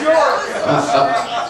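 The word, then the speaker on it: Björk: It's pronounced Bjork.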